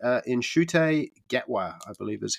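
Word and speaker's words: Ncuti Gatwa: which is, hopefully I say his name correctly, Inshute Gatwa, I believe is how you pronounce it.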